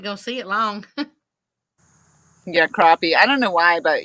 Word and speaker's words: crappie: saying crappy catfish and crappy does not sound right I always say catfish and crappie yeah because it is crappie well I think it depends on where you're from it is but we know how to say it right the right way though oh thank you